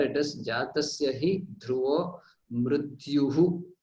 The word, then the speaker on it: मृत्युः: So there it is, jatasya hi dhruvo mrityuhu. So there is a visarga which has to be pronounced. That mrityuhu dhruvam. That visarga is what makes it mrityur dhruvam or dhruvam.